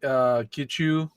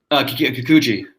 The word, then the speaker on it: Kikuchi: So I don't like Kichu, however you say that. Is that how you say it? Kichu? Kikuchi. Kikuchi.